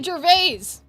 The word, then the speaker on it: Gervais: We are looking at how to pronounce this name as well as Ricky Gervais. Ricky Gervais. Ricky Gervais!